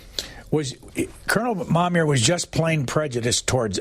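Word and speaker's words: Momyer: make sure I don't M or mam uh mamir was Colonel mamir was just plain Prejudice towards us recalled span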